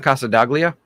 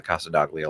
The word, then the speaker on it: Casa Daglia: de Gill Casa degili c-a-s-a-d-a-g-l-i oh Casa de uh you sure it's not Casa daglia Casa I've never heard